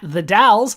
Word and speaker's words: The Dalles: It's not Dalles, it's the Dalles.